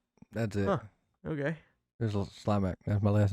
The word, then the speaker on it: Slimak: It's actually pronounced Slimak, but who the fuck talks like that?